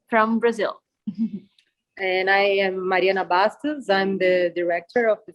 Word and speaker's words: Mariana Bastos: And I am Mariana Bastos.